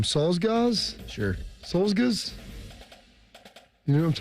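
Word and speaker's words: Czolgosz: Solzgaz? Sure. Solzgaz? You know what I'm talking about, Shark? The man who shot William McKinley? I think it's actually a CH, a Cholgals.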